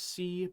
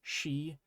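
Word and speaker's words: し: Remember last time when we learned the character she, and I said you were going to think it was si, but that it's actually she?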